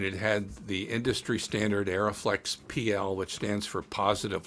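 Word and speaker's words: Arriflex: company arie aeroflex and by the way it's pronounced aeroflex and arie it's not pronounced re as all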